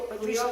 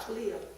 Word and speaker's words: Cleo: Cleo Maria. What's the first part? Cleo. Cleo? C-L-E-O. C-L-E-O. Cleo Maria. K-L-I-O. Okay, thank you. Cleo Maria, I'm very happy.